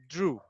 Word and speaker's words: drew: It's like, for example, when you say like draw, so then you pronounce it like ooh, drew.